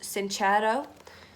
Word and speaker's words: Sincero: Now, the final book is You Are a Badass by, she's Italian, so I'd assume that the surname is pronounced Sincero, but correct me if I'm wrong.